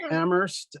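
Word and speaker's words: Amherst: Um and um as uh Karen said uh we are members of the uh Jewish community of Ammerst uh where only the H is silent as we say.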